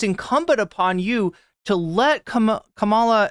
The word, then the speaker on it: Kamala: Then it's incumbent upon you to let Kamala, I almost said Camilla, this has gotten into my head. I forget who mispronounced her name as Camilla, but it's incumbent upon